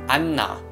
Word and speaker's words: 안나: of the nian is doubled this word is pronounced I'm not that strong n sound and now it is